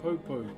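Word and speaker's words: poupou: So this is what you would call a popo. P O U P O U is how you spell it.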